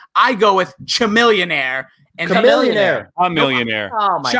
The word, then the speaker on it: Chamillionaire: I go with Chamillionaire. Chamillionaire. A millionaire. Oh my God. Chamillionaire. It's C-H-A. Can't even pronounce the name.